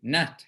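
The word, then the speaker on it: natya: the nutmeg not yeah it's actually n-a-t-y-a it's actually but that in bengali the why after a letter um doesn't necessarily get always pronounced when it's in the middle of a word it generally emphasizes the letter that's after it but it's certainly we're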